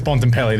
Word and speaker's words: Bontempelli: And in the middle, we've got Marcus, and I pronounce his name wrong, so it's Marcus Bontempelli this week.